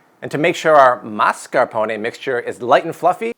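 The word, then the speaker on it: mascarpone: oz of mascaron cheese have you ever noticed that all the chefs on TV call it marcaron last time I checked there's an S there mascaron every time you pronounce it wrong Jada deenus sheds a tear and mascaron is just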